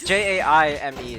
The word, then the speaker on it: Jaime: Falcon Pikachu is it Jamie Jaime Jaime HR is that how you pronounce it yeah it's j-a-i-m-e it's not he was in the combo contest I think yeah yes yeah it's Jaime then I'm pretty sure I